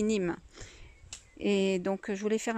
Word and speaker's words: neem: Donc voilà, donc je voulais faire un petit point donc, sur le Nîmes, parce que je voulais dire Neem parce que ça s'écrit N-E-E-M. Donc en fait, ça se dit Nîmes.